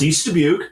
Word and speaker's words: East Dubuque: It's East Dubuque.